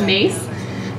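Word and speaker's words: Myss: here heard of Carolyn mace yeah okay um well for those of you that haven't Carolyn mace her the spelling of her last name is m yss but it's pronounced mace and she's kind of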